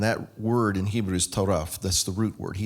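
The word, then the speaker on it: טרף: The root word is pronounced taraf.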